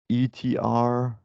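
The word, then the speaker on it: ∃R: So pronounced as ER or exist R or ETR. Different people have different notations for that, or ways to pronounce it.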